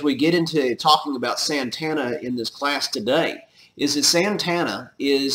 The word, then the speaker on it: Santa Anna: And his name is Antonio Lopez de Santa Anna, or Santana, as it was more properly pronounced.